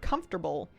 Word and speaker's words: comfortable: I refused to believe that the word comfortable lost the syllable that it looks like it should have.